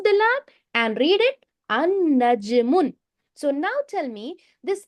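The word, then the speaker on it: النجم: The lam will be there, but we don't pronounce it. We make it silent.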